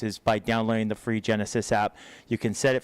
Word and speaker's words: Genasys: One of the big ones is always about evacuations, and so we want to really encourage folks to download the Genesis app. It's spelled Genasys.